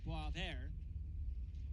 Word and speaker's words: Boisvert: Of course, the Lumberjacks have Xavier Veillot, and last season, Sacha Boisvert. Never spelled the way it sounds.